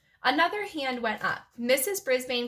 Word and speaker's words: Brisbane: It's in Australia, and they pronounce it Brisbane.